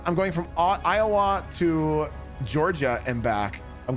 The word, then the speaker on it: Iowa: I'm from Iowa. It's not Iowa. It's Iowa. Is that what you're trying to say? I'm not drawing out the last syllable enough.